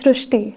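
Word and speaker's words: Srushti: So in Marathi, the word re is pronounced as ru. The word re is pronounced as ru. So that is why the pronunciation goes Srishti.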